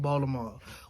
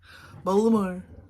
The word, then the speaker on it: Baltimore: how we say it baltimore we don't pronounce the t okay voldemort baltimore okay um but uh